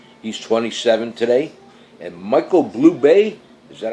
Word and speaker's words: Bublé: And Michael Bublé, is that how you pronounce it? I like to call him Michael Bubble, but it isn't Bubble. It's Michael Bublé, that's it.